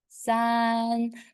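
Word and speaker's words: 三: number three in Chinese the first tone sun make sure your voice doesn't change sun it's always in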